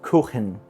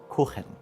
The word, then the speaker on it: Kuchen: got the custard, and I know I said Kuchen in the beginning, it's Kuchen, if you want to be correct with your pronunciation, Kuchen.